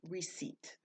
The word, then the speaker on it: receipt: this word is pronounced receipt this P is silent so what is a